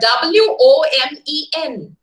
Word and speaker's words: women: okay so secondly uh when it comes to the word w-o-m-e-n women we say women and what is the letter we use o the letter o we use right letter is o sound is e any logic behind that